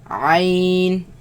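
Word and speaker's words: ع: Let's pronounce them. Ha, Ain.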